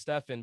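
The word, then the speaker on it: Steffon: mother chose my spelling so it's pronounced stefan but it's spelled like stefan s-t-e-f-f-o-n which trips up a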